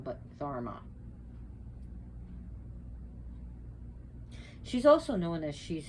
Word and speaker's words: dharma: the i know it's just so wouldn't be pronounced dharma but therma she's also known as she's whose beauty is